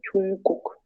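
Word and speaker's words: 중국: Acá, como saben, esto, lo que es la consonante de la primera sílaba termina como una NG, entonces es como que se combina con la G que sigue, ¿saben? Entonces viene siendo como Chungguk.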